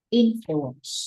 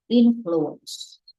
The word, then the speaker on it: influence: Bad có thể thay thế bằng từ horrible, horrible impact, alright, horrible impact, or terrible influence. Đọc influence, đừng có đọc là influence nha.